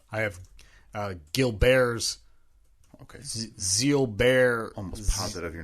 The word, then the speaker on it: Gilbert: to type WTF is Zeal Bears all right well it looks like Gilbert but I'm just learning right now that it is pronounced Zeal bear so to recap the